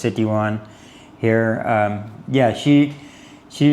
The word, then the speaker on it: Sitiawan: She says it's kind of like City one. So, it's Citywan here.